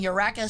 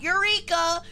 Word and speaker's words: Eureka: I really dig the mechs from Ureka 7, not Eureka. Japan is weird. They pronounced it. Ureka 7.